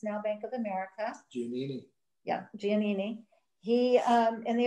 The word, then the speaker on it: Giannini: Giannini, that's how you say his name, the bank president, actually used this as his little vacation home occasionally since the bank owned it.